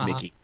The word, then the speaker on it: Michie: Like, what do you usually call me Josh, and most importantly, my last name, which everyone mispronounces, it's Mickey.